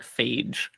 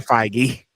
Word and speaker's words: Feige: I thought it was like Phage. I have no idea. It's Kevin Feige.